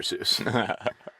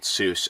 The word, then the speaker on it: Seuss: everybody just called it Seuss and that sort of sounds like Mother Goose yeah and when he